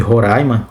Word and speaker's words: Roraima: Horaima é Roraima. Se tem alguém de Horaima, Horaima, assistindo esse vídeo, gente, coloca aí como é que se pronuncia. Acho que é Horaima. Acho que é Horaima, não é Roraima.